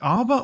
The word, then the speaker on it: Harbour: Well, I mean, it's spelled H-A, so I assume it's Harbour. So is Herbs. Right. Well, those are herbs. But, yeah, but you're still pronouncing the H, aren't you?